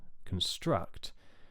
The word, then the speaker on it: construct: So a word like deconstruct, for example, the original word is construct, and that has a stress on the second syllable, construct.